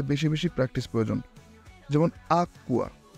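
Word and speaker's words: acqua: বেশি প্র্যাকটিস প্রয়োজন যেমন আকুয়া আকুয়া বাংলায় যুক্তবর্ণের মতো আকুয়া চিত্তা চিত্তা চিত্তা বাংলায়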